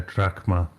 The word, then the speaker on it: drachma: Oh, it's drachma. Is that how you say it? Because it's a delta. P is a row, so it's an R. So it's drachma.